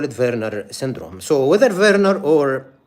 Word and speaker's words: Werner: because V or W is pronounced as V in the German language and the one who described this syndrome his name is Verer or Wernner in English.